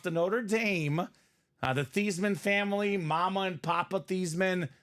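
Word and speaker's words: Theismann: of that thasan name in comes the Notre Dame PR staff and they decided to to change the pronunciation of his name you know why because he was a Heisman Contender they said let's get thyman for the Heisman it worked kind of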